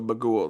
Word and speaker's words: Bughuul: I just want to hear everyone say it first because I think it's Bagul, It's but I've heard of, Bagul. So it's spelled Bughuul. So Bagul, like Dagul, but with a B.